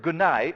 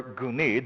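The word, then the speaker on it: γύναι: However, in this particular case, he adds the word gunai, or guni, depending on how you pronounce it and what side of the road you're from.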